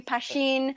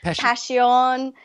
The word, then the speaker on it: Pashyn: to anything me too they pronounce my name pasheen passion I get it all so basil Brad Belinda Jody Jen Jacob Steve Hannah and myself passion good job passion good